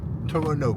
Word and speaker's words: Toronto: Toronto comme on dit ici. On ne prononce pas de thé à ce qu'il pe comme tu l'uras compris aujourd'hui on va voir des trucs un peu énervés.